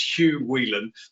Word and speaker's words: Hugh Whelan: uh marta the um the way you pronounce my name is much nicer than the way it gets pronounced over here so my name is hugh whelan but it's okay hugs sounds much better um certainly this morning